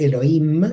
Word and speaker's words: Elohim: Patri nos pregunta si Elohim se pronuncia la H, entiendo Elohim, o no, o es indistinto. No, no se pronuncia la H, es Elohim, es como que la H casi no existe, Bien.